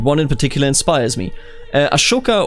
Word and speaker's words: Ashoka: Ashoka or Ashka, I think it's pronounced Ashoka, right, of the Mauryans, ushered in an era of peace for all of India.